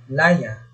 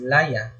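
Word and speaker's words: layá: Kasunod na pagbigkas natin ay mabilis. So, ginagamitan natin ito ng tuldig na palihis. So, para natin na pagbigkas ng salitang ito ay laya. Mabilis, laya.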